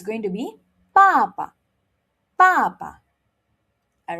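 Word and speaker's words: 爸爸: bàba bàba Remember, it's a fourth tone and it's starting with a B, so we do not blow.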